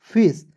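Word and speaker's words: face: रूप में उच्चारण करेंगे इ है दोस्तों इसका उच्चारण ए के रूप में करेंगे ठीक है फेस और दोस्तों आपको रूल याद याद रखना है दो कंसोनेंट के बीच में ए आएगा उसके तुरंत बाद एक कंसोनेंट को छोड़कर इ आना चाहिए तब दोस्तों ए के रूप में करेंगे क्लियर हो जाएगा फेस उसके बाद नेक्स्ट देखते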